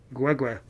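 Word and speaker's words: Kwekwe: Yes, that's how you pronounce it. K-W-E, K-W-E is Gwegwe. Have a great night from the Mad Mohawk, Gwegwe.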